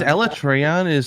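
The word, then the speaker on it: Alatreon: what i thought yeah i like trion i always thought is ella trayon is that what they actually pronounce it in the game that's the way that they said it in the videos oh yeah they they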